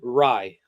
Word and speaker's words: Rei: REI is equal to RAI. Pronunciation wise, it's Rye.